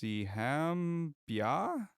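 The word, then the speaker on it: Siham Byah: Siham Bia? Yeah. Bia? We'll spell it because it's hard to.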